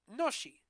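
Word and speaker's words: ノシ: Most people pronounce it noshi after the reading of the Japanese letters used.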